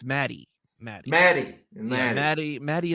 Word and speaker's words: Maddie: pronouncing it wrong anyways it wasn't Maggie it's Maddie Maddie Maddie MD MD